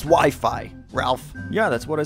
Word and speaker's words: Wi-Fi: game do I want to go into next wiffy wifey it's actually pronounced Wi-Fi Ralph yeah that's what I said and Wi-Fi